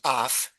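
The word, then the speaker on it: אויף: It is a preposition, usually pronounced af, and that's why it's dem, which is the dative.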